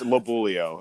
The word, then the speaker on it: Lobuglio: this is mitch and i'm afraid to pronounce your last name it's it's labulio that's okay i'm kentucky